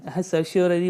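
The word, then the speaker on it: certiorari: देखिए प्रतिषेध, prohibition and उत्प्रेषण, सर्स्योररी बोला जाता है इसको, थोड़ा प्रोनाउंसिएशन थोड़ा इसका टफ है।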